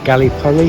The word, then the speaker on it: Gallipoli: It seems I pronounced the name of the town wrong. The locals call it Gallipoli, which means beautiful city.